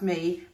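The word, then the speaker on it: Mii: her YouTube channel um her surname is spell spelled m double I um but pronounced me and she she's done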